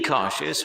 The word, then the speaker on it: cautious: Be cautious when be cautious. 들었어요? be cautious. 자, 여기 나오면 이 be cautious라는 것을요. 이렇게 씁니다. be cautious. 이 tious,가 shares 발음이 되는 거.